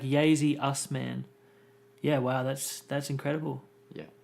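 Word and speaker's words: Yasy Usman: Oh, it's like Yazy Usman.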